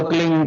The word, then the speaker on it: क्लीं: की मात्रा और बिंदी, उसका उच्चारण होगा क्लींग। गा की ध्वनि निकलेगी पीछे।